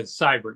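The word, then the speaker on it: Seibert: is that how you say his name yeah cyber yes okay yeah we did ask him that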